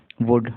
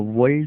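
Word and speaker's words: would: ही एच ई ही वुड डब्लू ओ यू एल डी वुड देखो वल्ड नहीं होगा ये डब्लू ओ यू एल डी वुड वुड होगा ठीक है एल साइलेंट है शेक एस एच ए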